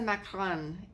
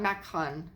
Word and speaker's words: macaron: I have to embrace the macaron. Embrace the macaron. Macaron, not Macron. He's the president of France.